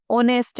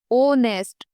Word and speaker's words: ऑनेस्ट: बोला जा रहा है जैसे कि ऑनेस्ट है ऑनेस्ट इंग्लिश में तो एच से स्टार्ट हो रहा है लेकिन जब आप इसको प्रोनाउंस कर रहे हैं बोल रहे हैं तो ओ नेस्ट ओ ओ से शुरू हो रहा है ओ क्या